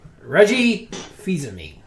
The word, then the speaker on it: Reggie Fils-Aimé: Reggie Fils-Aimé. I like it. It's that I pronounced it right, Fils-Aimé.